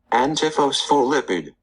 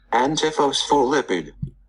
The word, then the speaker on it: Antiphospholipid: I actually can pronounce it right here. Antiphospholipid. Antiphospholipid.